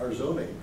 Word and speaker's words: Arizona: Okay, then how do you spell that? It's A-R-I-Z-O-N-A, Arzoni.